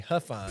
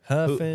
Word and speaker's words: Huffine: you know, AT&T or whatever and I say Huffine and I say Hu. They say, "How you spell it?"